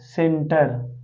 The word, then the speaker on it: center: तो अब हम क्या करेंगे, इस सी को यानी सी का उच्चारण सा से करेंगे। तो ये हो जाएगा बच्चों CEN सेन और TER सेंटर। ठीक बच्चों, अब आपको समझ